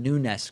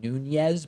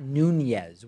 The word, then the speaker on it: Nunes: memo drama is that people just can't seem to pronounce Devin Nunes correctly. No, I'm kidding. That is a frustration, people calling him Nunes.